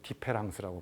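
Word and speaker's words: différance: 영어의 디퍼런스, D-I-F-F-E-R-E-N-C를 E자를 A로 바꾼 거예요. A-N-C. 그래서 이제 불어로 디페랑스라고 번역을 발음을 한다고 하는데, 아무튼 이 말의 의미는 차이, 영어의 차이를 시간, 공간적으로 여기서 그냥 딱 결정하지 말라는 거예요.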